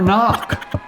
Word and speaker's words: knock: how about yoke huh or knock why is a k there who knows it's a mystery